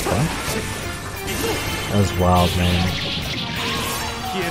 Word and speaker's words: pho: Like especially when they found out the proper pronunciation of pho. It's not pho, it's pho.